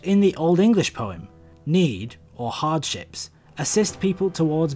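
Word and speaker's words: nȳd: in old english the rune is named need and in old icelandic and norwegian it's named now the both of these are related words with similar meanings though it is pronounced the same as modern english need its meaning they're related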